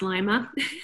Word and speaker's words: Lima: that's fantastic is it is it peru uh lima ohio okay i thought it's peru lima peru okay no we get that a lot though but it's pronounced lima okay yeah maybe that's why they first agreed